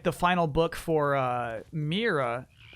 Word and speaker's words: Mira: oh yeah yeah typically I know it should be pronounced Mira however the game itself pronounced it Myra already there was some sort of narrator talking about Myra seems to be a